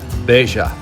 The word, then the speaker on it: Bella: name in Spanish t Double L is considered one letter and sounds as a Y or H a so should sound as Beija the Colonel empties his